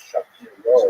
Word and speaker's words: Shapira: Rabbi Shapira is the common English transliteration of his name, although it really was pronounced Shapiro in Poland.